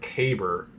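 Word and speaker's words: Kaiburr: spelled differently I mean I would pronounce that cabber not kyber but I can understand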